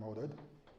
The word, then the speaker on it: Oded: Okay, so I'm Oded. This is how you pronounce my name.